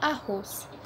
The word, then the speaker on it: arroz: Oxítonas são aquelas palavras que a nossa sílaba tônica, ou seja, a sílaba mais forte, é a última. Por exemplo, arroz. Arroz é dividida por arroz, porque duas consoantes se separam. Então, o ros é a sílaba mais forte, ou seja, é uma palavra oxítona.